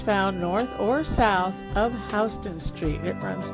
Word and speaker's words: Houston: Now it is pronounced Houston, so for anyone who comes from Texas, sorry. In New York it's Houston.